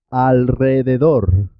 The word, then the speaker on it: alrededor: También suena doble cuando la R va después de L, N o S. Se escribe simple, una sola R, pero suena doble. Por ejemplo, en alrededor, alrededor. Enrique, Enrique Iglesias. Israel, Israel. En el resto de los